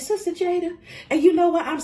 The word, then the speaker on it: Jada: My name is Jada.